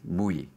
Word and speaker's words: MWe: Well, one way to do it is me, the internal self, and we, the relational self, comes into one word that's spelled M-W-E, mui.